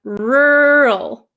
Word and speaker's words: rural: So the first one, rural. My mouth barely moves. It gets tight for the R, rural.